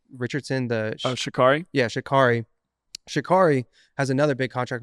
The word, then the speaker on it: Sha'Carri: Yeah, Sha'Carri.